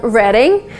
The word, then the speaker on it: Reading: came to the UK, there is this city called Reading. But if you spell it, it's like reading, like you know, the verb reading.